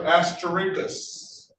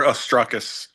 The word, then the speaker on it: Astruckus: Be safe, Officer Buchanan and Officer Asterikas. Excuse me. Give me the correct pronunciation, officer. It's Officer Astruckus.